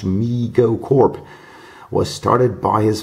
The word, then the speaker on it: Mego: response to overwhelming demand Migo pronounced me go Corp was started by